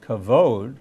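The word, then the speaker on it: כבוד: In the original text, the Hebrew word is kabed, K-A-B-E-D, if you were to spell it out in English. And the root of that is the word kavod, K-A-V-O-D, which means the weight of his glory.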